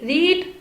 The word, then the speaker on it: read: की second form है क्योंकि रीड, रेड, रेड तीनों क्रियाओं की स्पेलिंग सेम रहती है, लेकिन आप यहाँ पहचान